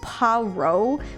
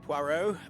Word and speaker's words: Poirot: I'm grateful you found my ticket, Poirot, but now is not convenient. I certainly didn't expect such a resistance. Resistance. Poir rhymes with moi, kind of. We in French makes a wa sound, like.